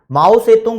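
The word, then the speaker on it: Mao Zedong: और दूसरी बात, जब देश में माओ से तुंग बोल रहा था, मतलब न्यूज चैनल में देखोगे तो इसका नाम जिदोंग जिदोंग बोलते हैं, बुक में देखोगे तो माओ से तुंग बोलते हैं, स्पेलिंग भी अभी दिखा दूंगा।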